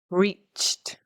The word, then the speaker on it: reached: Reached. It's got a T ending because it ends in the word itself ends in a ch, and the ch, we don't engage the vocal cords, right?